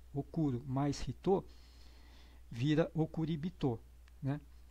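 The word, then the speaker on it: おくりびと: tô vira okuribito né não é okuribito é okuribito porque porque no japonês existe aquela aquelas coisas que existem no português também que é é facilitar a pronúncia das palavras para tornar o som mais agradável né e e mais fluente no falar então é muito mais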